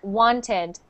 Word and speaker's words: wanted: So with that one, you actually pronounce the ED. Wanted.